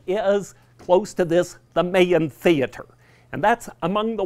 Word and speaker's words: Mayan: Denver person or not the newcomers think it's the Mayan theater it is the maeín theater that itself it could be named for the Maya Indians that it is the main theater in Denver pronunciation they have all